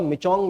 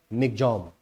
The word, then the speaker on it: Michaung: और देखिए इंग्लिश में देखने में आपको लग रहा होगा मिचोंग, लेकिन म्यांमार की भाषा का ये शब्द है। म्यांमार में लोग इसको मिग्जॉम बोलते हैं, तो इसका असली जो प्रोनाउंसिएशन होगा वो होगा मिग्जॉम।